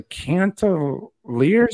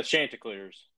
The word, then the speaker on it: Chanticleers: We've got a Thursday night matchup at 7:30 on ESPN2, where the Coastal Carolina, and I believe I pronounced their mascot right, the Cantaliers or something? Yeah, Chanticleers.